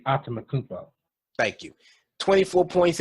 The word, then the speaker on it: Antetokounmpo: It's supposed to be Antetokounmpo.